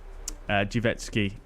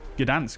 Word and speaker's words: Gdańsk: Like, for example, I've just purchased the Gdańsk, I'm saying it wrong again, Gdańsk, which we're going to be flying into on the next leg.